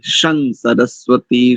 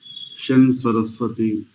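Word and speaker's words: शं सरस्वती: ऊपर अनुस्वार लगा ना उस अनुस्वार का मकार उच्चारण नहीं करेंगे क्योंकि आगे दंत सकार है और लरी तुलसा दंत तो दंत होने के कारण इस सकार को नकार उच्चारण करेंगे सं सरस्वती सं सरस्वती इस प्रकार से शन सरस्वती ठीक नंदा जी से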